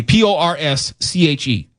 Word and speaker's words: Porsche: P O R S C H E. Porsche. Pora. Porsche. It's two syllables. It's Porsche.